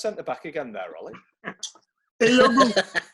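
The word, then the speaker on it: Ehiogu: Eyogu. That's the way you pronounce it.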